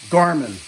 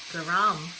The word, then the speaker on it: garam: because I couldn't say Garmin. Did I say it right yet? No? How do you say it? Garam. Oh, Garam. Garam.